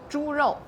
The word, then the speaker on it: 猪肉: 猪肉.